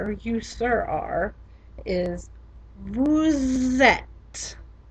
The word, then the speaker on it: vous êtes: You probably heard that I was making a liaison in between vous and et, because vous ends in a normally silent consonant and et begins with a vowel, so we liaise them together.